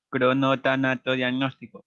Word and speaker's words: cronotanatodiagnóstico: Cronotano diagnóstico. Omitiste una palabra, una sílaba, Mary.